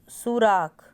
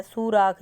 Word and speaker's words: सुराख: में बड़ा हु आएगा सुराख सुराख होता है सुराख नहीं होता सुराख छोटे उ की साउंड है उसके बाद साधु अब